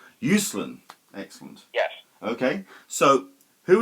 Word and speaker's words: Uslan: way how do you pronounce his surname it's pronounced usan usan excellent yes okay so who is Michael usen